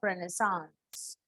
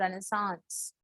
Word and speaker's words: Renaissance: तो first of all will see the pronunciation of रेनेसांस। इसको हम रेनेसा बोलते हैं, बट इट इज नॉट रेनेसा, इट इज रेनेसांस। Okay, now will see the time period.